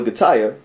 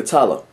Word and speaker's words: Gatalla: name is Gaya uh she doesn't want anybody to call her Gaya she wants people to call her gatala and the reason why is because you know two L's in Hispanic in Spanish it's a why but she doesn't want